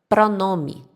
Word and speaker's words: pronome: Outro exemplo que a gente pode dar é a palavra pronome. Pronome. Termina com E, mas a gente pronuncia como se fosse um I.